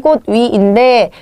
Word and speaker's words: 꽃 위: 요거 같은 경우에는 꽃 위인데 여기도 모음으로 시작하는 형식인가 봤더니 실제적인 의미가 있지요. 위라는. 그래서 실질 형태소인데 그때는 먼저 디귿으로 바꾸신 다음에 그 다음에 연음을 하셔서 뒤라고 발음을 하셔야 합니다.